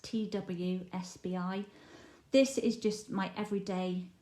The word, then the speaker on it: TWSBI: This one here that I just showed you, it's a Dsp, and it's pronounced TWSBI.